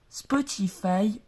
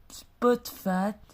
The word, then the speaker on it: Spotify: Spotify ou prononcé en anglais Spotfat est un service suédois de streaming musical sous la forme d'un logiciel propriétaire et d'un site web.